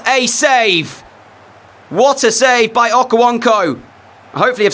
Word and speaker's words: Okonkwo: make sure what a save water save by okawanko hopefully have said his name right all right so POI so poor Kelly's in that's how you say it Okonkwo brilliant safe absolutely brilliant to keep wrexham at